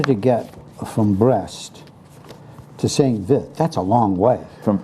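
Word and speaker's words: Saint-Vith: Saint Vith in Belgium. There's a very pronounced Belgique French pronunciation of Saint. We always just went with Saint Vith because it's V-I-T-H.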